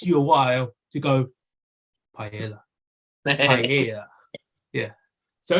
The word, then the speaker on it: paella: way it takes you a while to go paella yeah yeah so it's it's so it's it's